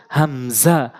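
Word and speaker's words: همزة: হচ্ছে হামজা হামজা হামজা অর্থাৎ হলকের শুরু থেকে হামজা হামজা প্র্যাকটিস করবেন বারবার আমার সাথে বলার চেষ্টা করবেন হামজা হামজা হামজা হা হা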